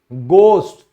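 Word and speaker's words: ghost: तो यदि H से पहले वावल लेटर्स बाद में हो तो H साइलेंट होता है, यानी H के बाद अगर वावल लेटर्स दिए गए हैं तो हमेशा H साइलेंट होगा। जैसे सम्मान, ऑनर, तो आप देख सकते हो वावल लेटर है। भूत, गोस्ट, तो ये भी O आ गया।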